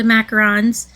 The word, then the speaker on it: macaron: Um, oh yeah, here's the the macarons. And I did do the prints, but I didn't bring them out cuz I am so good. Macarons are the sandwiches. macaroons are the um coconut.